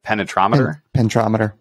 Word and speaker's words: penetrometer: They're running, you know, one of the DCPs, dynamic cone penetrometer. Penetrometer. Okay. I always add an extra syllable in there.